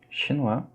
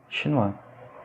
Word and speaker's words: chinois: Chinois. Observez la prononciation du diphtongue OI. La prononciation c'est OUA. Chinois. Et la dernière lettre, on ne la prononce pas.